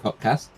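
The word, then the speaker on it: KOTKS: the letters k o t k s it's pronounced codcast not that anybody ever pronounces it that way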